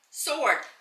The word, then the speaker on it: sword: These are playwright, sword. Oh, have you ever had a discussion with somebody how to pronounce sword? Sword. You don't pronounce it.